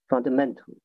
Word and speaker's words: fundamental: Fundamental. All right. Yes, perfect. Fundamental. Yeah. Yeah, the stress is on mental.